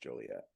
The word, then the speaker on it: Joliet: That's what that's pronounced, Joliet.